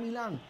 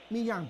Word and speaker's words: Millán: Recupera el cuadro de la academia, es en 5 horas, Jonathan Milán, levanta la cabeza, proyecta, Millán, perfecto, esa es la pronunciación correcta, gracias señor Chiriboga.